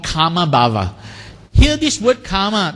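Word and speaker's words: kāma: in this condition called kama bhava here this word karma does not mean your your action trauma no this is karma the a is pronounced long and M is pronounced short karma where is the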